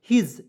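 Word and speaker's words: his: होता है यहां पे हिज यहां पे जो एस है इसका उच्चारण ज के रूप में करेंगे ठीक है तो एच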